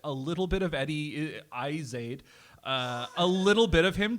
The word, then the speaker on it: Izzard: It's that it's the everyone- emphasis on the first half, the first syllable, but it's the second syllable is pronounced ard, not erd.